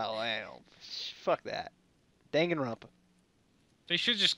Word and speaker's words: Danganronpa: People are pronouncing the name of that. They will. It's Danganronpa.